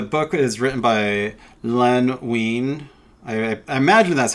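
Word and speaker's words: Wein: is written by Len ween I I imagine that's how you pronounce it like you know the band ween and uh the first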